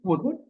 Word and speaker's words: could: Sama, kalau kita mau menyebutkan could, would, should, itu L-nya nggak perlu dibaca. Jadi, could, would, should.